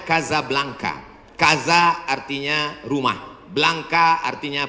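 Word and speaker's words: Casablanca: Hasan dua di Kota Kasablanka Hai ibukota Maroko tempat saya kuliah nama negaranya Maroko ibukotanya tulisannya casablangca cara bacanya Kadzab langka Kaza artinya rumah Blanca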